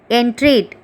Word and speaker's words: entreat: 10th one, entreat, en-treat, 2 syllables.